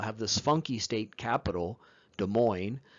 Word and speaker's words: Des Moines: this funky state capital, Des Moines, with all these S's you don't pronounce?